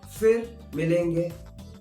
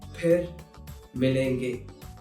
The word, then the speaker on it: फिर मिलेंगे: So, if you hear someone saying fir milenge, that is incorrect. The correct pronunciation is phir milenge. I know it might be tough, but if you're learning it, learn it right way. Phir milenge instead of fir milenge.